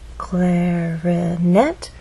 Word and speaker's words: clarinet: our voice glide up clarinet has three syllables clarinet but it's the final syllable that is stressed and there's a pause